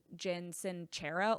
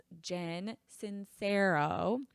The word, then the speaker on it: Jen Sincero: I had to look at this because every time I want to say like Jen sincerero like I don't know where I'm getting these extra syllables. I don't know where I'm getting these extra letters. Jen Sincero.